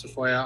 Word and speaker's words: Tafoya: